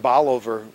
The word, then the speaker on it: Bolivar: We do have a family over in, I guess it's pronounced Bolivar, Missouri, when you talk to the locals, where 4 of the